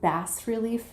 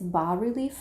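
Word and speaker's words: bas-relief: i think i was instead of bass relief wrap i think it's ba relief wrap so i apologize if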